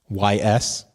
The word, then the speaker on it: Ys: A new Ys game is coming to PS4. Ys. Y-S. Oh, okay. Yeah, it's pronounced Ys.